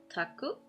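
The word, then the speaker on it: 宅: Um, it is pronounced taku. It's the only pronunciation.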